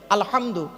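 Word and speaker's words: الحمد: আলহামদু, এই গলার ভেতর থেকে হেটা উচ্চারণ করবেন। আলহামদু মানে হচ্ছে সমস্ত প্রশংসা আল্লাহ তোমার।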